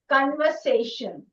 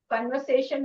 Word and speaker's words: conversation: So it's like conversation. 4 syllables. Every time you make a clap, okay? Conversation. This is how. Okay? And so here we have con. That is the stress.